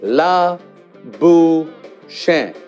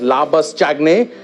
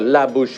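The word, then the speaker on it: Labuschagne: alright first of all let's get this right together ok see la boo Shan yes and those that pronounce this poor fellow as lavas chacne you need to change it about a hundred times with me a la bouche and la bouche I see its face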